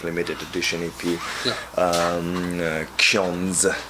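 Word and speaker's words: Xiądz: And now we got like this EP, like limited edition EP, Ksiądz. That's how we pronounce it. It's a Polish word that's available during these dates now.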